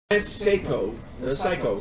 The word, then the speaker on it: Seiko: Psycho, sorry. That's how he pronounces his name, even though it's spelled Seiko.